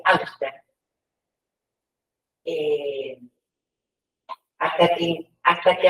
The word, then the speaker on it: Auster: tu nombre no eh Ah oster se escribe auster eh Hasta que hasta